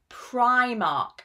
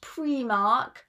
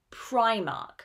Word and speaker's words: Primark: you, an Irish brand, because I've heard it mispronounced so many times. This is Primark, not Primark. Primark.